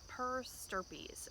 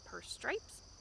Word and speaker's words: per stirpes: Your computer, if you type it, is probably going to want to call it per stripes, but that's not it.